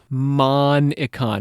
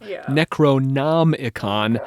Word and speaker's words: Necronomicon: Cuz he switched a couple letters around. Yes, it is a malipropism of HP Lovecraft's fictional Necronomicon of Alhazred.